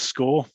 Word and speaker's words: Skore: So my company is Skore, spelt with a K, S-K-O-R-E.